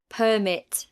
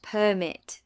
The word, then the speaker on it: permit: Say these words. Record, noun, and record, verb. Present, noun, and present. Permit, noun, and permit, verb. Contrast, and contrast verb. Object noun and object verb. Notice how the meaning changes with stress.